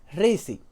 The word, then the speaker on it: RSY: Él me dijo que se pronuncia Rizzy.